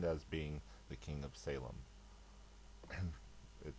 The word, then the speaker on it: Salem: shalam or shalim but the Greek doesn't really have a sh sound and okay I know